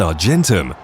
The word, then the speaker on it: argentum: element of silver, Ag, which in Latin is pronounced argentum.